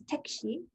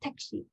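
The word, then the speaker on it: 택시: easy and korean is tekshi it sounds almost the same just pronounced in a very korean way so tekshi in the next picture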